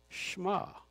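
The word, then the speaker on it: Shema: h m a and that's right but it's pronounced schma and practicing Jews still recite it twice a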